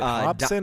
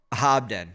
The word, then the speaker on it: Hobden: Um is it Hobson or Hobden? Hobden. Sorry. Hobden.